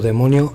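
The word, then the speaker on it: δαίμων: Se le ha llamado demonio a toda entidad interdimensional, pero ¿qué es realmente? ¿Y qué significa la palabra demonio? En religión, ocultismo, folclore, un demonio, del griego daimon, que se pronuncia demon, es un ser sobrenatural,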